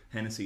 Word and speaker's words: Hennessy: check out Chloe Hennessey Hennessey is spelled like the stage Tennessee but with at 8 at the start and said yeah let